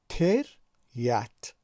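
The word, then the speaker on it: терять: ما وقتی که تلفظ میکنیم نمیگوییم که تریت، ما میگوییم تریت، یعنی هیجای دوم یت بلندتر تلفظ می شود و به خاطر اینکه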